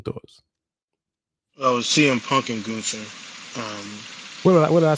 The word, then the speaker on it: Gunther: Seth Rollins and Gunther, right? That's how it's pronounced. Gunther. I've heard it both Gunther. ways. It's Gunther.